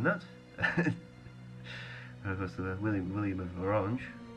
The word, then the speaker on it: Orange: course William William of orang orang is how it's pronounced because it's actually a French it's a French County it's a county in southern France orang is so it's